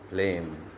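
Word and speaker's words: phlegm: शब्द वाचूया paradigm diaphragm प्लेम Fareen या प्रत्येक शब्दामध्ये जी अक्षर आहे परंतु या जी अक्षराचा उच्चार होत नाही तरी सुद्धा जी अक्षर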